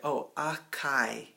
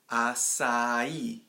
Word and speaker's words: açaí: or i a chi I've heard people say that too like native English speakers say a chi or a chi or a chi or something like that and the the correct way is with us sound say psy and it has that rhythm change right so what's strong at the end si that's what we're trying